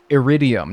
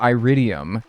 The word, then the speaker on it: iridium: Like, when people tell me it's iridium, not iridium, and it's Gunther, not Gunther in Stardew.